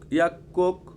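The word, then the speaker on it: 약국: আমরা যেটা বলি সেলুন শিউফ মার্কেট সুপারমার্কেট ইয়াকুক ইয়াকুক ইয়াকুক হচ্ছে ফার্মেসি ইয়াকুক কেন বললাম গিয়ক বাচ্চিমের পরিচিত গিয়ক আছে এটা সাঙ্গিয়কের মত উচ্চারণ হয় ইয়াকুক সাঙ্গিয়ক মানে ক সাঙ্গিয়ক মানে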